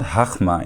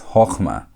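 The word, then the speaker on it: חכמה: hochmah It's not hachmah, it's hochmah. Why is that?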